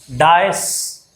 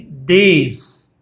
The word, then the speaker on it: dais: This DAIS. Most of the people pronounce it as dice. It is not dice. It is days.